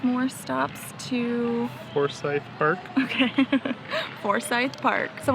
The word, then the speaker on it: Forsyth: like 5 more stops to Forsyth Park.